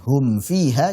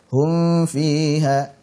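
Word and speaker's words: هُمْ فِيهَا: Karena potensi juga untuk dibaca ikhfa. Harusnya dibacanya apa? Izhar jelas. Contohnya misalkan hum fiha, jangan sampai dibaca hum fiha salah. Tapi apa? Hum fiha jelas.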